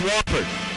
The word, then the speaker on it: Wofford: it is spelled w FF o r but pronounced wford in the first game of the tournament that'll